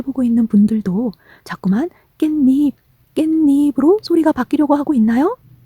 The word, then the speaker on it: 깻잎: 소리로 발음하게 되는 것이랍니다 그래서 니이 자꾸자꾸 말하다 보면 좀 더 발음하기 쉬운 깻잎으로 말하게 되는 거죠 드디어 결론까지 왔네요 겟